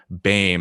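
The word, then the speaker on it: Boehm: in the forest by christopher baim i think is how you pronounce his last name b-o-h-e-h-m he's an anthropologist i think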